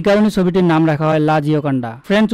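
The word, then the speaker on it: La Joconde: এই কারণে ছবিটির নাম রাখা হয় লা জিওকন্ডা। ফ্রেঞ্চ উচ্চারণে লা জিওকন্ডে।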